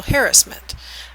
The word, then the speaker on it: harassment: Okay, so let's finish up our discussion of sexual victimization with sexual harassment, or as some people pronounce it, sexual harassment. I'm from the West Coast, so most of us say harassment.